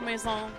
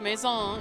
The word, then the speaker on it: Maison: Safari and the Battle Mason. Yes, it is pronounced Maison. It is not Mason, as I've heard so many Pokemon YouTubers say.